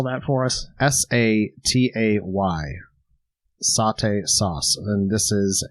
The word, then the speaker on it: satay: bit of a controversy on how that's actually pronounced and we kind of settled on satay not saute but satay i believe yeah so why don't you spell that for us s-a-t-a-y satay sauce and this is a um an